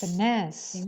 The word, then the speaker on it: finesse: in finest egg venus finesse the stress is on ness but gives her a